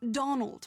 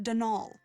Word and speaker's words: Donal: That was the caretaker, Denol Delaney, not Donald, mind you. There's no D at the end, so it's pronounced Denal.